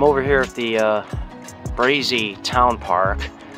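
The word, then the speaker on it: Brazie: you I'm over here at the uh brazy Town Park it's spelled b-r-a-z-i-e and it's in Utica and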